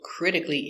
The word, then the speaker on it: critically: So remember, when you see these adverbs with C-A-L-L-Y, it's always pronounced cle, cle, critically. Now, these are only some examples. There are many more examples of adverbs with this spelling, and they are all pronounced the same with cle at the end.